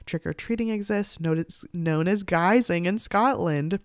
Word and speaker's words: guising: exists notice known as geysing in Scotland pronounced like disguising which is fun because